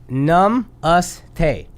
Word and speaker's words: Namaste: Tell us how to pronounce it Namaste. correctly. Num us te. Namaste?